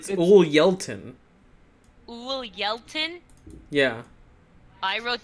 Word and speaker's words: Ulyeltin: You guys keep calling him Uluway.